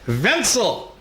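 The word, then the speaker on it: Wenzel: this ties in is Wenceslas was the way it was in Bohemia but in German it's vencil wencel wencel hey went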